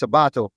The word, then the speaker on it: Sabato: sabat so it's different there's there's an accent on the second a that my father put there to make sure that they pronounced it right and he did that